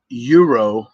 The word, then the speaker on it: euro: Uh, I did a big euro. It's not a gyro. It's spelled GYRO, but they call it euro.